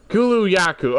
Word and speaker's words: Kulu Ya-Ku: Frank how do I already forget how to pronounce it Kulu yaku okay okay thank you Kulu yaku sheesh took